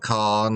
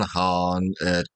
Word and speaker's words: Khan: Uh, yeah, Shere Han gonna go with the Turco-Mongol pronunciation of the word Han, not Khan, Han.